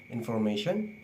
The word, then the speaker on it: information: it will be idea the Third information in this word there are four syllable in formation the second syllable mate is a stress syllable so it will be longer and higher in pinch than the first second and last level in formation so when we read it it will be information okay now uh for